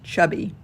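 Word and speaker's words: CHBY: a chinese-made chb trawler named chubby spelled c-h-b-y but pronounced chubby i could relate so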